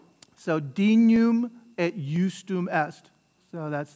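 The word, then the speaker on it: dignum: sur sum corda so there's your gn again that nya sound dinum at ustoom est dinum right first syllable accent on the first syllable dinum ustoom est so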